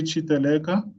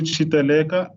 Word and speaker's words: Chiteleka: I'm Chiteleka. No, got my surname wrong there. Chiteleka, General Tax Practitioner and Business Accountant.